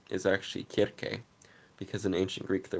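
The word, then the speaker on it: Circe: fact the real way you're supposed to say cersei is actually kirke because in ancient greek there was no c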